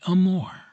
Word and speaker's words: amour: from that connoted by amour. Amour. You fairly sing the second syllable in a baritone voice from the chest with a little throaty tremolo on the surface to make it sound more palpitating.